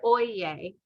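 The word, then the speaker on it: oyez: know is oyen and it's spelled o y e z but it is said oyeye and that is the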